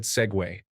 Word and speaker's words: segue: Segue. Does not follow the same rule as vogue and rogue, but is instead segue.